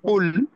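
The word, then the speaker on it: قُل: কুল শব্দটাকে একটু ভিতর থেকে উচ্চারণ করতে হবে, কফ কুল। আর কুল শব্দটা উচ্চারণ করতে হবে হালকা ভাবে, কুল।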